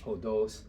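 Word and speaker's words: ὁδός: We used it as an example of something that had a rough breathing mark. Ὁδος comes up in the word exodus, odometer, road or path.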